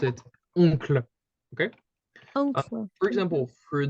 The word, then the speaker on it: oncle: in English you would pronounce it kind of like that, uncle. Okay. Mhm. In French, it would be like Oncle.